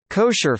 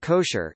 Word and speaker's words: kosher: Food that may be consumed according to Halakha law is termed kosher in English, from the Ashkenazi pronunciation of the Hebrew term kasher, kasher meaning fit.